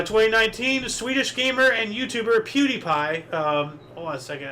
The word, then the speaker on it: PewDiePie: It's actually if you if you say it phonetically, it's pew die pie.